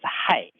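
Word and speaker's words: 氦: in the gas and the small character pronounces as high okay now you know Chinese pronunciation of helium is high it's very close to human Okay so for the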